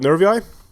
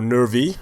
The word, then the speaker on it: Nervii: both factions equally so starting with nervi or nervy if you don't want to go with the Ang angelized version we always pronounce uh we always pronounce the names of these factions usually in or and names in the game in an anglicized version not in pure Latin there are several versions